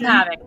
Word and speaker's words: Kapavik: Is that the correct pronunciation? Kapavik, that's correct. Kapavik.